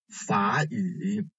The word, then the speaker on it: 法语: So the first one is 法语, in this one.Actually, if you read the first syllable alone, this one is the third tone syllable, fa, right? But as you hear, it is read as 法语, and this one, 你好, right?